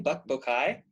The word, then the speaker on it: Buck Bokai: Buck Bokai?